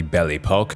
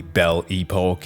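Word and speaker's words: Belle Époque: future, during what is called the Belle Epoque, or the Belle Epoque in English, just a slight pronunciation change.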